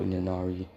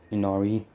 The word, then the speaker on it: Inari: he says, hello, Ninari, as I can't really pronounce his name right, so don't judge me in the comments, as Inanari, or however you say it, Inari, I think that's how you pronounce it, Inari, looks at them, as